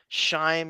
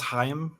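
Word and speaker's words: Chaim: Petrillo right yeah utrillo and shim sutin I'm sure I'm pronouncing that right I think it's hayam yeah of course of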